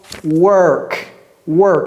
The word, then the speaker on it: work: la prononciation de ça j'ai dit walk walk la prononciation de ça c'est quoi work work c'est comme si ça c'était W e r k work et ça c'est W